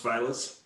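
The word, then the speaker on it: Filas: It's F-I-L-A-S, it's pronounced Files.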